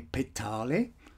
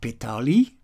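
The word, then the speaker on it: Petale: forms or levels namely pet Holly not ptoey ptoey the crown of creation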